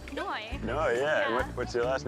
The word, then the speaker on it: Noi: That rhymes with my first name, Noy.